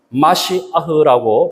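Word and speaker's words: מָשִׁיחַ: 히브리어로 기름 부음 받은 자는요, 마시아흐라고 발음하는데요, 우리가 아는 메시아입니다.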